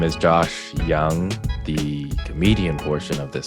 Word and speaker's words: Yang: Are you actually going to tell like people who intro you up, like phonetically spell your name so that they'll say Young instead of Yang?